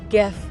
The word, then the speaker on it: GIF: The G in GIF stands for graphics, a word with a hard G sound. Acronyms are not random. They are designed to compress longer ideas while maintaining a connection to them. To pronounce GIF with a soft G is to break the link between the acronym and its source. After all, we say graphics and not giraffics.